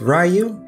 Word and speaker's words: Ryu: myself my name is ryu and my minecraft skin is an eevee my name is pronounced like rye and you and i am coming